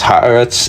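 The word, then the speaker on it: ארץ: Because the land which means or which is pronounced harats in Hebrew refers specifically to the land of Canaan, the land God promised to Abraham back in Genesis 12:7.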